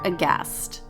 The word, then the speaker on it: aghast: Instagram at cast underscore aghast remember there's a silent h yes